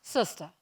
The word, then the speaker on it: Sister: everyone calls her sister that's spelled s-i-s-t-e-r pronounce sista she is the inspiration